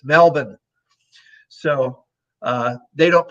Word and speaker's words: Melbourne: i said well i i first came to melbourne and uh now i'm on my way to sydney and she was like oh melbourne and i said what's so funny and she said it's melbourne so uh they don't pronounce their r's so